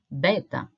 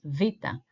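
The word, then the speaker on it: βήτα: makes the sound V V is what you have maybe heard before as beta okay the correct pronunciation is Vita as we will see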